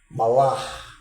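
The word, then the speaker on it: מַלְאָךְ: Malach. Tem um R que a gente chama de gutural, né? Na pronúncia do hebraico, que ela sai da garganta.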